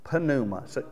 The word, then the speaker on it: pneuma: pronounce it for me pneuma how is it pronounced pneuma you pronounce the p see i'm not used